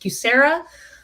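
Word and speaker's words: QSEHRA: The first one is the QSE, Qualified Small Employer Health Reimbursement Account, generally sort of pronounced QSERA.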